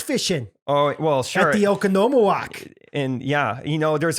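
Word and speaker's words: Oconomowoc: originally they were in okonomiyaki yeah okanoma walk oh there it is yeah that's all the syllables actually they originally came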